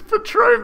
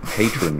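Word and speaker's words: Patrón: please the script says patron but she doesn't know how to pronounce patron right because it's not as as it's spelt it's not phonetic but he he knew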